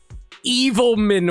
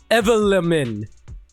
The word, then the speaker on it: Blackwood: There's probably like some dude there whose last name is like Evilman or something like that. Except it's not pronounced Evil Man, it's pronounced Evelyn.